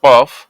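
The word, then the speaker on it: قاف: হবে কফ আর এই কফের উচ্চারণ আছে কফ উচ্চারণ কেমন হবে কফ জিহব্বার গোড়া হতে একদম জিহ্বার গোড়া হতে মোটা ভাবে আদায় হবে কফ কফ এভাবে ঠিক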